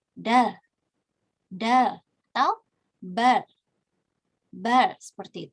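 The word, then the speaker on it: 달: Tapi kalau di akhir dia dibaca L, jadinya dal.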